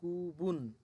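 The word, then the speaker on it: 그분: আবার দেখেন এখানে কি আছে, গু বুন, গু বুন, গু বুন, বিউপের ব সাথে হচ্ছে বু, নিচে হচ্ছে নিউনের ন, গুবুন, গুবুন তিনি, এটা সম্মান সূচক, ওই যে সম্মানিত কোনো পার্সনের ক্ষেত্রে।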